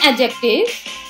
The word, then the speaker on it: adjective: you adjective children in adjectives the d is silent when you are reading adjectives you will not read it adjectives it is adjective b will be silent